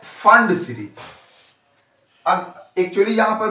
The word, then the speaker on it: Pfund: है उसको हम लोग फंड, यहां पी साइलेंट है, फंड सीरीज कहते हैं।